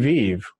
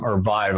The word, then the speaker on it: Vive: they're really competing with HTC vive which is the vibe I think is how they say it but the really